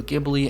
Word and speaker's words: Ghibli: And thanks to you guys, I know it's now pronounced Studio Ghibli and not Studio Ghibli.